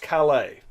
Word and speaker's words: Calais: Now, the closest two places here are Dover and what is pronounced Calais.